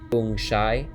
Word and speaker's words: feng shui: The Chinese system of geomancy, feng shui, pronounced feng shai, is the science of understanding the dragon currents which exist beneath the earth.